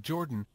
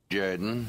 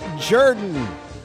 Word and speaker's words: Jordan: Now for Something Completely Different this is Shug Jordan coach of the Auburn Tigers say no no it's pronounced Jorden yes yes yes this is sh Jaden football coach of the Auburn Tigers it's pronounced Jordan that's the name of the wildly popular in